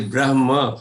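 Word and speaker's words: ब्रह्म: But if you see only Devanagari, many of the people who read Devanagari may pronounce this as Brahma, as if ma comes before ha, which is not the case. So one should pay attention here. It is Brahma, ha comes before ma.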